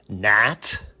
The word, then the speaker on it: gnat: Gnat is spelled G-N-A-T. Of course, that makes complete sense. Throw a G in there. Gnat, right? I challenge any person that's coming up and starting to read, and that's how they're going to pronounce it, of course.